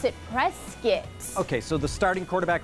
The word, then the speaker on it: Prescott: Okay, looks like Prescott. Right, but they pronounce it Prescott.